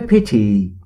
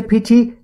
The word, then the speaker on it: pity: نگفتم پیتی یا پتی. Pity.